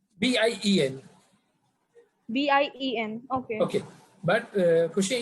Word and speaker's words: bien: B-I-E-N. B-I-E-N. Okay. Okay. But Kushi, in French, whenever there is alphabet N, we have to we have to pronounce like nasal sound.